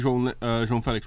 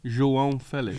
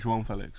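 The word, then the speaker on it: João Félix: Yeah, His name's John. João Felix. Jean It Felix. sounds like John. This is the way you say it, João Felix.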